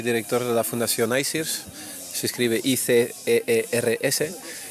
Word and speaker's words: ICEERS: que es el director ejecutivo de ICERS.